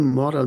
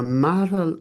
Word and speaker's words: Maral: Invito Maral, non Moral, ma Maral Otgonbatar Yes.